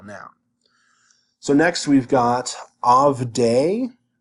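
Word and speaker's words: עַבְדֵי: So next we've got avdei. We know that the dagesh here, the shavah here is silent because it's preceded by a short vowel.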